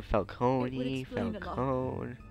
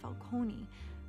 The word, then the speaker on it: Falcone: were druged Sergeant wait people are calling him Falone listen how it's actually pronounced talked big about hurting thugs like Falcone but I would never